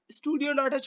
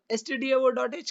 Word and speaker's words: stdio.h: अक्सर लोग इसको stdio.h के बगैर studio.h पढ़ते हैं क्योंकि वो गलत है। stdio.h करेक्ट प्रोनाउंसिएशन है।